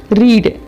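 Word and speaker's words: read: Guys यामध्ये लक्षात ठेवा स्पेलिंग सेम आहेत, फक्त उच्चार थोडा वेगळा आहे सेकंड आणि थर्ड फॉर्म मधला.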